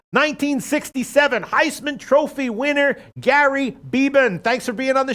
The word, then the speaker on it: Beban: the bag show 1967 Heisman Trophy winner Gary beeban thanks for being on the show Gary thank